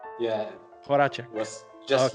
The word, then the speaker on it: Horacek: Am I pronouncing it right? Yeah. Horacek.